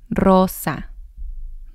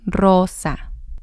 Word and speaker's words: Rosa: rolling those ores but when we have the ore at the beginning of the word it sounds like a double or as well Rosa Rosa and again you can